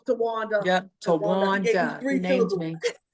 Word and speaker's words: Towanda: He gave you 3 syllables, Towanda.